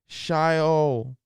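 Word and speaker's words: Xiaonan: Jan Shayo. Jan Shayo. Starts with an X. Jan Shayo. I believe I'm pronouncing that correct.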